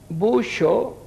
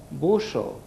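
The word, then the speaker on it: buŝo: buixo és la boca, aquesta lletra havíem dit que era el x, com ara guix o caixa, buixo, la pronunciació de guix o caixa, buixo, que és la S amb el circunflex a dalt. Si no el portés seria busso, és la S normal, busso, però com que porta el circunflex hem de pronunciar buixo.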